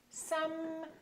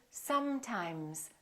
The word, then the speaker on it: sometimes: So take your time and fully pronounce the continuant. So I want you to say sometimes, sometimes. Don't say sometimes, sometimes. A lot of people rush through the continuants and make them too short.